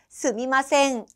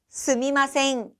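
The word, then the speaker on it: すみません: 스미마생, 스미마생 이라고 발음이 되는데요.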